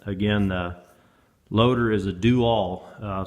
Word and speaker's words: Do-All: And again, the loader is a Do-All. Some folks want to pronounce it dual, but it's kind of funny how they spell it and pronounce it.